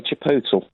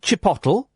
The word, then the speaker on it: chipotle: How would you pronounce that? I say chipotle. Right, I would say chipotle.